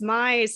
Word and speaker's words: Mize: And I said, it's Mize, like size with an M.